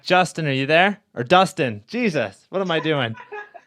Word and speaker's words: Dustin: like, "It's Justin" or "It's Dustin, not Justin."